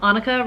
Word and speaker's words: Annika: se but we have Annika rhymes with Monica is an English major